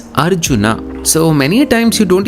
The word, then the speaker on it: Arjuna: So this right here is not Arjun or Arjuna, it's Arjuna.